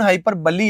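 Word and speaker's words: hyperbole: इसका उच्चारण हाइपरबली है।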